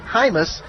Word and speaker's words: Jaimes: He spells his name Jaimes, but he pronounces it Hymas.